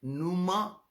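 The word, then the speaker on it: pneuma: नूमा हाग्योन, पी से शुरू होता है, पी साइलेंट है, नूमा हाग्योन, हाग्योन इज होली, नूमा इज स्पिरिट।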